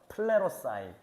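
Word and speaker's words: πληρῶσαι: 그러니까 그리스어입니다 여기에 뭐라고 저게 무슨 발음이냐면은 한번 따라해 볼까요 플레로사일 플레로라는 동사이고 이제 싸이가 붙으면서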